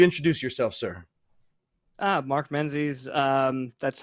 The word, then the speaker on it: Menzies: friend would you introduce yourself sir ah Mark Menzies um that's how you pronounce the last name uh Rob thank you